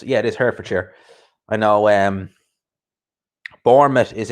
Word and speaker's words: Hertfordshire: of way no problem i know watford's in herd for chair is that how you pronounce it yeah it is hertfordshire i know um bournemouth is in the south